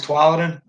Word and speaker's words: Tualatin: Oh, so I'm saying it wrong. It's Tualatin.